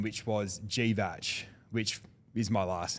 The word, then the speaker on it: Grzywacz: Grzywacz. Grzywacz, Yeah, okay. yeah, Polish.